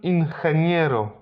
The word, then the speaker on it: ingeniero: Jeśli po G jest E lub I, to tak jak w przypadku literki C, zmienia dźwięk. Tutaj akurat na H.